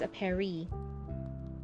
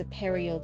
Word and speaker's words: Aperio: But you're saying it's a Perio Does Dolmy. So I think if that's how you want it pronounced, there might need to be an O cuz otherwise people say Aperi rather than Aperio.